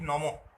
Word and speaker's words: নমঃ: এগুলো যেমন বললাম আর বিসর্গের প্রকৃত উচ্চারণ হচ্ছে হ এর মতো বা নমঃ এই জাতীয়